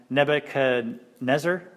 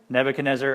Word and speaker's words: Nebuchadnezzar: don't like the way I say his name Nebuchadnezzar Nebuchadnezzar are you guys good with that pronunciation okay I like I always said it